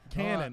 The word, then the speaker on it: Kanan: much cannon that's cool we going cannon or kanan because i got to say his name correctly cannon okay you're saying one